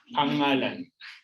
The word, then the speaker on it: pangalan: Okay, name is pangalan with single NG. Nouns are pangalan with double NG. Is it pronounced the same? Yeah, pangalan. Okay, but this afternoon we'll talk about panghalip or pronouns.